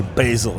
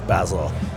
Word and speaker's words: Basil: Americans say Basil. Basil. But English we say Basil.